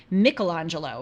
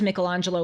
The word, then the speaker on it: Michelangelo: the time of Michelangelo or as I have been told Michelangelo Apparently that is the the proper way to pronounce it Michelangelo lived from 1475